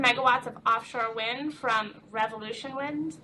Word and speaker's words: Revolution Wind: of offshore wind from revolution wind the milliner and may always wants to pronounce that as revolutionary wind which will be developed